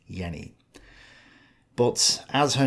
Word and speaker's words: Jenny: Yenni Von VES Fallen it may be pronounced Jenny but German speakers online don't seem to agree on how this name is pronounced so I'm just going to stick with Yenni but as her name